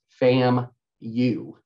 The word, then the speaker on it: FAMU: him like I'm sorry you're saying the word wrong it's pronounced fam you and like in my